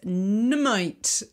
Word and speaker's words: Nuummite: So the healing crystal that I chose for this new moon is Nummite, and it's spelt really weirdly. It's Nuummite.